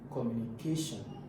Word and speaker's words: communication: So the stress for communication is always on the communication. Communication is always on the third syllable.